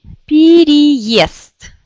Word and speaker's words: переезд: Il y a 3 yé ici. 1, 2, 3. Mais vous pouvez voir dans le dictionnaire que c'est cette yé qui est accentuée. Et c'est pour ça qu'on ne prononce presque pas ça, mais on prononce comme i. Donc on dit переезд.